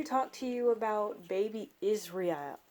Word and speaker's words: Israel: Israel, not Israel. Israel, I like that. Even though you could say Israel, it's fine. It doesn't matter. It's spelled that way. I just like Israel. I like the way it sounds.